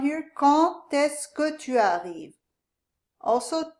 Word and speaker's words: quand: This is actually silent in this case, quand.